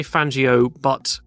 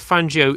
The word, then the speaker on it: Fangio: So Fangio, most people say Fangio, and that is an Italian name, but Argentine pronunciation, again, as I said, is a bit strange. So instead of Fangio, it's more like Fangio, something like that in Argentine Spanish, I believe.